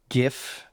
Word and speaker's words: GIF: Uh until one day I saw a gif, yes, I pronounce it with a hard G on on Twitter at the time, the artist formerly known as Twitter of what would become Dusk.